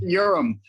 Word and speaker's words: Uram: Uram.